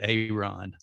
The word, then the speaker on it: Aaron: it's aaron walker but he pronounces it aeron yeah double a ron he is from nashville